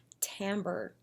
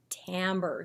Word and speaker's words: timbre: the day, which is timbre. I know, it looks like timber, but it's pronounced timbre.